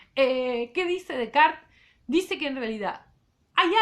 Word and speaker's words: Descartes: Descartes, entonces, más o menos para la misma época, francés, René Descartes, les pido, se escribe Descartes, se pronuncia Descartes, ¿sí?